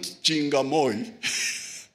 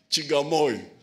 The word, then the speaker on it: Chigamoy: It is not Chingamoy. It is Chigamoy. Chigamoy. Justice Butera has uncolonized. Because it makes sense. Chinga is to close.